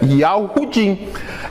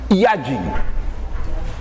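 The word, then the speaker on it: Yehudim: Pois é, Yahudim. Essa é a pronúncia correta, mas hoje ninguém lá pronuncia Yahudim. Todo mundo hoje lá fala Yadim.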